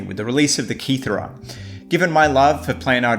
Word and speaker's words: Cetra: The Cetra, and I'm just going with the Italian pronunciation here, is interesting for completely different reasons.